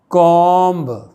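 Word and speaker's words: comb: जिससे बाल बहुत तह कि कॉम सी ओ एम बी लिखित 20 साइलेंट होता है कॉम कि कुएं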